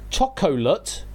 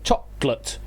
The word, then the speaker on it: chocolate: I suppose the way I just said it there is sort of two syllable. Chocolate is three sy three three syllables but you can say chocolate to make it two syllables.